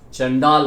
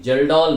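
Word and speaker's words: Kjeldahl: Number 1 Dumas method, number 2 चंडाल method, चंडाल नहीं जेल्डॉल मेथड। जेल्डॉल का मतलब KJEL नहीं LAHL, जेल्डॉल्स मेथड।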